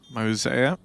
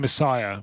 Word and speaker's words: Mosier: Mosier. It's easy to remember because it's like mosaic. Yes. That's better because I've been going Messiah, which doesn't help. No, that's why I've been saying it wrong.